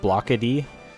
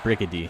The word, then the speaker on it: Brickady: And then the Chupada model is called Blockady, and he's like a rectangular bird. Or Brickady, not Blockady, Brickady. I knew it rhymed. I was like, Blockady doesn't rhyme with chickadee.